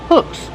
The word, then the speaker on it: hooks: Hooks. Use the short uh sound like look and book.